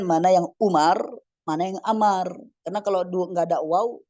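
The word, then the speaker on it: عمرو: Ya ikhwan dan akhwat Amar Awah ahsant ini kita baca dengan Amar terus ada orang tanya misalnya terus wau itu gunanya apa Ustaz Mak kita bilang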